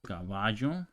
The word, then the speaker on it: caballo: Okay, so caballo, this is how you pronounce it in countries like Mexico, El Salvador, other not Uruguay.